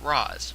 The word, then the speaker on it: Ra's: The Batman Begins film pronounces it Raz, while both Batman the Animated Series and Arkham City pronounces it Ra's.